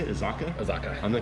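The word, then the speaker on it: Azacca: Azaka.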